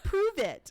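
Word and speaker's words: Pruvit: and you have to say it like that because there's an exclamation point at the end prove it and it's spelled p-u-p-r-u-v-i-t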